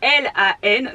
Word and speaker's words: Lan: Moi je m'appelle Lan, donc ça s'écrit L-A-N, tout simplement, il n'y a pas de E, il n'y a pas d'accent, il n'y a pas de je ne sais quoi, c'est tout simple, c'est Lan.